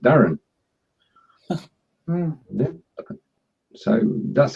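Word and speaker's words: Darwen: Darwin is wrong. It's spelled D-A-R-W-N, but it's actually pronounced Darren.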